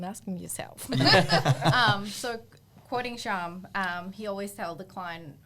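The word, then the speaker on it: Syam: Or Dan would say Siam. Yeah, he does still call it, because his name is spelled S-Y-A-M. Siam. I'm like, no, dickhead, it's Sham.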